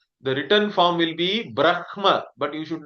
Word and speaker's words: Brahma: Whenever Ikma is there, we always pronounce it as Imha. The Makara comes first, Hakara comes afterwards.